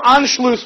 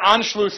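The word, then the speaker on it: Anschluss: what is called anlo anlo a NS C HL it's called the sharp s in German it's like two s's put together into one letter no anlo with Germany the hills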